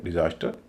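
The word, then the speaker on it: disaster: इस तरह डिजास्टर, यह भी नाउन है, इसमें भी दूसरे पर स्ट्रेस है, पहले पर स्ट्रेस नहीं है, तीसरे पर नहीं है, इसको कहेंगे डिजास्टर।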